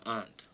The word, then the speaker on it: aunt: aunt on mermaid Avenue if you're going to say it say it right it's Aunt not Aunt she's my aunt because she don't crawl around with eight legs and eat garbage okay maybe she does I